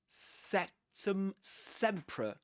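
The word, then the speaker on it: Sectumsempra: Sectum sea.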